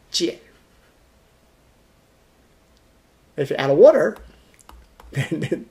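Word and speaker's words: 贱: That's the basic meaning of this character, pronounced as jian, the same as this, J-I-A-N, fourth tone, jian.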